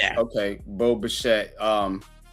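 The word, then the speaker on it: Bichette: Pronounced E. It's a silent e. It's okay. Bo Bashette.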